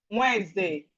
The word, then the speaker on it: Wednesday: So we have Wednesday. Wednesday. So Wednesday. So it's like this. Wednesday. Wednesday. Okay, so the D, you pronounce it as if there's no D. Wednesday. It's not Wednesday. The D is silent.